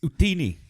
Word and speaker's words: Utini: The E is silent. Hitnama. No, Yeah. guys. It's Utini.